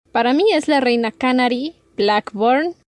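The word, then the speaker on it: Channary: Y sabemos que la reina Canary, bueno, ¿tú lo pronuncias Canary? Sí. ¿Sí? Es que, bueno, yo he escuchado los audiolibros y la narradora siempre dice Chanary.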